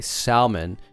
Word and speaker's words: salmon: I personally I personally like to say salmon because it has an L and almond because it has an L.